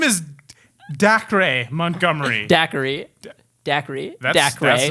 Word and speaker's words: Dacre: I hope that's not how you say that name. It's Dacre. Dacre. No, Daiquiri? Daiquiri. Dude, you're saying Daiquiri like Binks. 3 extra syllables. Daiquiri, It's dude. decry. No, dude, it's only 5 letters. It's not Daiquiri.